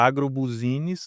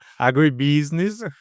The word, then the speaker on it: agribusiness: termo agronegócio, né, até com uma pronúncia engraçada que ele falava agrobusiness, né, que é agribusiness, e e eu achei engraçado e quis entender aquilo mais, né, e me interessava por aquilo.